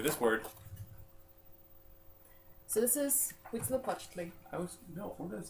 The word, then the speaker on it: Huitzilopochtli: The name is Huitzilopochtli. When you see an HUI like that in Nahuatl, it's actually pronounced like a W. So you don't actually have to say the H.